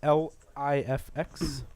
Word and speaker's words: LIFX: called again life x l i f x dot com excuse me yeah it's live they pronounce it lifx that's cool also the